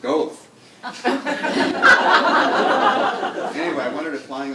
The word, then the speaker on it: Goethe: Remember, I spent the day asking for Goethe Street until I called you and said, no, dummy, it's pronounced Goethe.